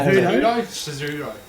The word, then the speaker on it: Cejudo: Merab versus Cejudo. Good pronunciation there, buddy. No, Cejudo.